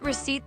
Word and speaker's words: receipt: Got it, receipt. The P is silent, right, Rocco, and warranty card.